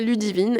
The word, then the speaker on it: Ludivine: à prononcer mon prénom mon prénom c'est Ludivine et lui et il n'arrivait pas à le prononcer disait ludvin et du coup tout